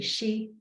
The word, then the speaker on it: Xi: But no one in my family calls me Xi, which is the official pronunciation.